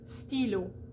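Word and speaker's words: stylo: sound in a word like stilo which is pen or uh gro so g-r-o-s s's and t's are silent at the end of those words okay and we'll get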